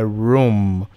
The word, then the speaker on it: room: E tem essa pronúncia meio que como se fosse quase um U, é room.